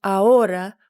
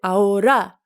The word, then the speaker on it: ahora: It's pronounced ahora with the accent on the second syllable. But in this song, they pronounce it ahora with the accent on the last syllable.